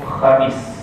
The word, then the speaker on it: Khamis: Huruf kha dia adalah huruf yang ada ejaan dalam bumi sebagai K dan H. Saya pernah terangkan K dengan H sebagai contoh Khamis. Kita akan sebut hari Khamis.